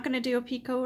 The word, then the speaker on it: picot: actually a five chain picot or peacock whichever way you wanna pronounce it i pronounce it picot so we're gonna chain